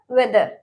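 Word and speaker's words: whether: Next हमारा वाई, वाई, इसमें भी W के बाद H है तो ये H हमारा साइलेंट रहेगा, ओके। नेक्स्ट हमारा वेदर, वेदर, वेन और वो, वेयर, ओके, मतलब वेयर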